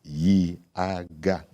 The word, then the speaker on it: YIAGA: Now, just in case anybody is wondering, YIAGA Africa, YIAGA. That's it. 3 syllables.